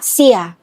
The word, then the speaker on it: Xie: Their original surname in Mandarin is pronounced " Xie," but in Southern Chinese dialects like Teochew, it's closer to "Jia."